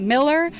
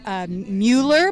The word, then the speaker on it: Mueller: Texas Farmers Market at Miller. A lot of people spell it or pronounce it as Mueller, but it's actually pronounced Miller, but it's spelled Mueller.